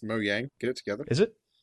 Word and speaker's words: Mojang: Um, well, Mojang licensed this and Mojang have shitloads of money. It's pronounced Mo Yang.